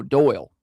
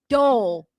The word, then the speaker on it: Dole: It's National Dole Whip Day. Dole Whip. Oh, Doyle. Dole. Okay, Dole Whip. It sounds like you're saying dough. No. Like D-O-U-G-H. Tell me that's not how you say it.